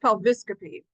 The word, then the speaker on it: pelviscopy: Now this one's a little odd because it's got this vowel in the middle of the eye. It's pronounced pelviscopy, okay?